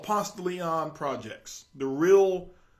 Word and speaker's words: Ponce de Leon: The real name of it, if you want to give the politically correct name, it's Ponce de Leon. All right? But if you say Ponce de Leon while you're in Ponce de Leon, if you say it correctly, there's something that's going to be missing.